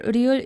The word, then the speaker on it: ㄹ: But here ryul is pronounced as r, parayo, because this syllable produces a vowel sound, a. And when ryul is placed between vowel sounds, it's pronounced as r, okay?